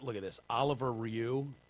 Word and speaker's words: Rioux: Oliver Rioux. How do you pronounce that? I would say Rio. Rioux. It's a French name.